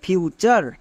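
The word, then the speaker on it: future: যেমন ফিউচার, FU, ফিউ, TURE, word pattern, এর জন্য কি হয়? চার।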